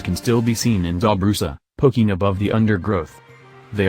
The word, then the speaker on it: Dobrusa: Dobrusa, pronounced Dobrusa, was once a village of 50 houses that lined 2 parallel streets at the bottom of a shallow valley.